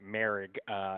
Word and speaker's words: Moehrig: And I think it is pronounced Moehrig. It's a tricky one, but safety, and that's who I thought they would potentially take in the first round.